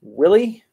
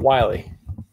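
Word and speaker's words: RC Willey: The RC, I was told this is Willie, not Wiley. I pronounced it incorrectly.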